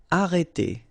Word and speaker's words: arrêter: Okay, remember when you get this accent circonflexe on the top of E, then you get the sound E. Okay, so it's really opened. It's E. Okay, so arrêter. And then final ER here, as usual, E.